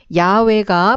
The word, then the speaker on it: 야훼: 없이 자음만 표시되어 있었습니다 그러다 현대에 와서 여호와 보다는 야외가 본디 발음에 더 가까울 것으로 추정하고 있습니다 너희 조상의 하나님 곧